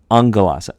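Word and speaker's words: ἄγγελος: But when you have, for example, you have the word in Greek for angel, angelos, that's two gammas together, makes a sound, angelos, ng sound.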